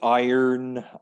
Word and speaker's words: iron: uk so much um it's iron i i earn like i earn money oh or i earn yeah and for draw not drying but taking the wrinkles out of your clothes you can use an iron of course it's the element as well f e iron iron not rion what's i know i